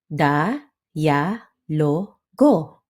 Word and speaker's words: dialogo: It's pronounced da ya logo with a quick yah in the middle.